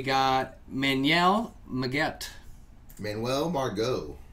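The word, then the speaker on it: Margot: man yell Miguel Manuel bar go is that how you just put on that we go the T is silent for the Philadelphia Phillies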